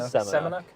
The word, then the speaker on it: Semenuk: Brandon Samunk, right? Is that how you say it? Semenuk.